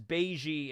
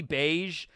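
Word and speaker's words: Bege: long time fan here why do you pronounce Capone's name as Beijing instead of beige as in the sub and dub yeah it's supposed to be beige I just got into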